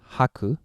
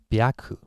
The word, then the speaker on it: 白: in 100 okay so Chinese St rating is uh usually Haku uh sometimes Baku it's rare usage well the reading I mean the sound is similar to that of 100 right 100 was Haku yeah so the way